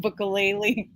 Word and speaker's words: Bukele: Zoya, how you say it? Bukele. I said so you're Bukelele. just adding ukulele at the end, like ukulele.